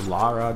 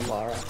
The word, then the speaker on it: Lara: Claire Redfield just fantastic Laura Croft or Lara depending on how you want to pronounce it it's Laura yes but like I have